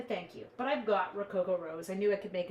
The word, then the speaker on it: Rococo Rose: So this was the Rococo Rose card, yes? And you have to say it like that. If you don't say it like that, you're not saying it properly.